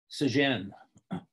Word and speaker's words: St John: we say saint john the british when they pronounce saint john's office to just say uh sajin but in american english sajen is saint john you know they may be pronouncing it in some their version of french okay in his